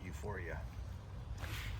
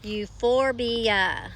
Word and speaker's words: Euphorbia: When you use AI Translate, it calls it euphoria. Euphorbia.